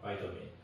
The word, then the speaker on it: vitamin: 근데 이제 영어로는 이제 비타민이라고 하지 않고 바이민 어 바이타민 그런 식으로 이제 써 주는 거니까 얘네들이 보통 이제 양성으로 많이 발음을 해요.